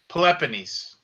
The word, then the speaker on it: Peloponnes: Peloponnese.